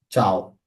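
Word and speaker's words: tchau: আ এই উচ্চারণটা হবে চাও।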